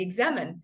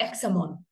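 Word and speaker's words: Examen: said, oh, I've started praying this prayer, the Examine. And he said, no, it's pronounced the Examon.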